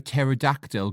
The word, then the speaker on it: pterodactyl: can't you hear a pterodactyl go to the toilet because the p is silent well done Jack that's